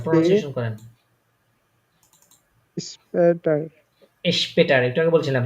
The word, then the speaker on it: später: später স্পেটার, একটু আগে বলছিলাম যখন এসপি একসাথে শুরু, শব্দের শুরুতে বসবে তখন এটা শ এর মতো উচ্চারণ হবে।